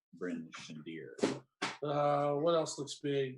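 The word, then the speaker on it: Bryn Shander: could maybe travel to bernie or we could travel too and really it's pronounced bryn shandir uh what else looks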